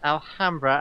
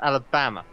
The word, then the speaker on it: Alhambra: This is the person who pronounced Alhambra as Alabama.